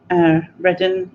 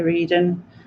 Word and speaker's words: Reading: Or if you say Reading, and I want to say Reading. Or if you say Berkshire, and I want to say Berkshire. Because there's like this overriding thing inside of us that wants to say it wrong.